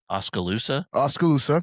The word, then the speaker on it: Oskaloosa: I can't pronounce Oskaloosa. Oskaloosa.